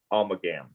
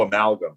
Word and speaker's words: amalgam: the big takeaway is savage almagum i don't know if i'm saying that right at all how do you say it oh amalgam yeah i'd have never got that each time a